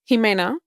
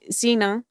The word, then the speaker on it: Ximena: Um well, my name is spelled with an X, Ximena, and a lot of people call me Xena, warrior.